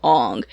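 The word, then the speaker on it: Aang: how it should the character's name should be pronounced we're gonna call him ong and it's like well that's great that that's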